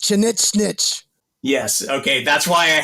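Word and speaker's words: Chinigchinich: Yeah, it's pronounced Chinichnich.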